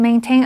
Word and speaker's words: maintain: OK，接下来我们看的是 maintenance 这个不可数名词，M-A-I-N 这个字根有手的意思，所以 maintenance 是指维护、维修或者是保养。注意它的重音是在第一音节，念成 maintenance。例如，The elevator is temporarily closed for maintenance。这台电梯因为要保养，暂时关闭。它的动词是 maintain，M-A-I-N-T-A-I-N。这个时候它的重音就跑到第二音节，念成 maintain。例如，It costs a lot to maintain a private jet。要维护保养一架私人飞机要花很多钱。最后我们看的是 supplement 这个名词， ple 这个字根有填满的意思，所以 supplement